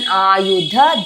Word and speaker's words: Ayudha: Ayudha dha stress Shagna Dhyayudha Bahave Pitambaradhare Pitambaradhare dha stress Dhanye dha stress Durga Devi Namostute.